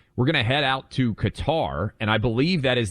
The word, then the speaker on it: Qatar: gonna head out to Qatar and I believe that is the official pronunciation that fox has decided on Buck I mean uh for the Arabic speakers out there it's cutter but but we're Americans